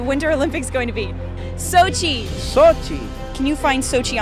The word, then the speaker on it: Sochi: going to be held i'm not may not be pronouncing it right sushi sound right or something like that sochi shopping sochi maybe sushi sochi right that's right will you watch me